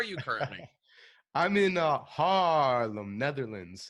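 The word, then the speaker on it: Haarlem: currently I'm in uh Harlem Netherlands it's a long a because it's h a a l m it's the original Harlem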